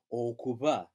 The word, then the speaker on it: okuba: Therefore, that's a soft be, as in okuba.